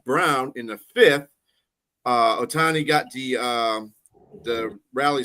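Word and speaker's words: Ohtani: Is it Otani? What's his name? Oti Otani.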